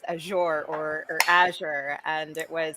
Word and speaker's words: Azure: So that's its pronunciation. It's Azure.